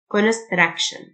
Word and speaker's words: construction: brutality brutality البناء construction TIO تنطق شه construction building building creation creation